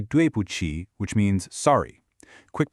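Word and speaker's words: 对不起: You say duchi which means sorry. Quick pronunciation tip so you don't trip up. That Q in pinion actually sounds like a sharp chuchi.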